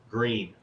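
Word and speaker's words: Gruene: to find out that what reads as gruen is the german english version of green green texas not grew in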